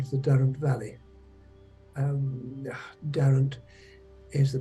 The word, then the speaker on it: Derwent: the upper end of the Durham Valley um Darren is the pronunciation the river is actually written on maps is written Derwent and a lot of people call it Derwent nowadays now the upper part of the down